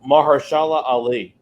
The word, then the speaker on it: Mahershala Ali: Oh, Mahershala Ali.